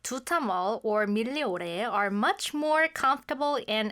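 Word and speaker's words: Migliore: I asked her how to pronounce She's it. never been there. Milleore. Milleore. Milleore is like where you go for cheap clothes.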